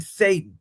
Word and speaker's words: Sayin: Julian Julian Satan. Satan. Sat like Satan if you get dragged down. Okay. Okay. I have a feeling a lot of Julian Satan's passes are going to go towards Jeremiah Smith.